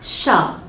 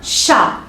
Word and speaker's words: chat: Un chat. On voit la lettre T, mais on ne la prononce pas. La lettre T, elle est ici, mais on ne la prononce pas. C'est un chat.